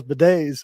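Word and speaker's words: bidet: bid it b i I kept I kept pronouncing it bid it and I thought that was name of a company that sells Beday oh God I had no idea so yeah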